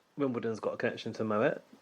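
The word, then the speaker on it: Moët: Moet yes it is Moet Mo I don't trust that person that's a French person that the T here is not silent it's not Mo it's actually Moet made an entire video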